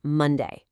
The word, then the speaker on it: Monday: Take the word Monday. It has two syllables. We don't say Monday evenly like a robot. We stress the first syllable. Listen as I slow my voice down to act as a guide. Mon-day. See? The first syllable is louder and slower.